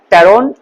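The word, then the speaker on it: pteron: हुआ है वो है टेरोन इसमें पी साइलेंट है टी ई आर ओ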